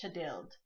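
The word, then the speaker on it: Thjodhild: which is Leif's mother, and her name is Chadild. But it's spelled like, it looks to me like Chodhild, but it's pronounced Chadild.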